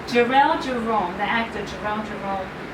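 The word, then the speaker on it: Jharrel: Jerome. No, I know I was saying it wrong. Jarrell Jerome, the actor Jarrell Jerome, was amazing.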